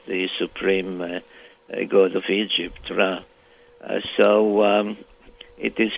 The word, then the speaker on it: Ra: smudging it in the center which is really pronounced ra and stood for the name of the supreme god of Egypt ra uh so um it is quite inconceivable that